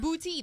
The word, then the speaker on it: Boutte: Now, they pronounce it bouty. There's no accent u over the e.